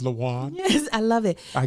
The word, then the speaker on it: Lathan: It's pronounced Lathan.